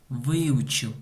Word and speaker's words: выучил: Выучил. Ударение на букве И.